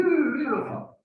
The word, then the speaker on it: Loja: Un autre château est celui de Loja. Je prononce bien, la région de Loja. Je prononce bien. Hein? Oui, Loja.